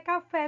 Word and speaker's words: café: Quando a sílaba tônica ela é a última, nesse caso aí, a última é café, como nós vimos, tá?